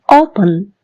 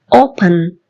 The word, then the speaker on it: open: open, O, open. 2 syllable word, 2 syllable verb தான். O, அதுல தான் stress கிடைக்குது.